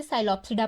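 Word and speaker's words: Psilopsida: इसमें P silent होता है इसे इसलिए साइलोप्सिडा पढ़ते हैं।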